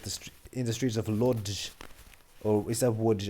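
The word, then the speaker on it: Łódź: in the streets of Lodge or is that WJ? I think it's pronounced WJ because in Polish like this cross air makes a W. It makes a W sound.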